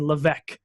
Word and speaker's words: Levesque: to pronounce his name you don't pronounce the S it's just Ryan Leveque even though there's no